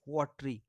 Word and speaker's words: watery: देखिए वाटरी, WATERY, इसमें ई का प्रोनाउंसिएशन या ए साउंड का प्रोनाउंसिएशन नहीं हो रहा है, हम इसको पढ़ते हैं वाटरी।